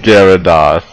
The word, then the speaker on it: Gyarados: it's pronounced Gyarados.